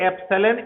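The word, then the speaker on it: epsilon: ये एप्सिलॉन एक Greek alphabet है, जैसे कैसे होता अल्फा, बीटा, थीटा, ओमेगा, पाई, उसी श्रेणी में ये ग्रीक अल्फाबेट है।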